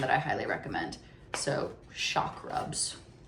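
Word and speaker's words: Chakrubs: So, Shakrubs. Yeah, spelled like chakra. Okay. C H A K R U B S.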